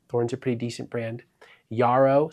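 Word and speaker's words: Jarrow: Yarao, spelled with a J, but it's pronounced Yah.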